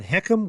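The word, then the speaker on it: HECM: the what it means HCM we pronounce it as heckum in the industry but that's the fha's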